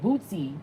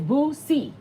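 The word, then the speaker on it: Boosie: Oh, you say it like Bootsy. No, I say Boozy. That's how you... No, it's not like that. It's Boozy.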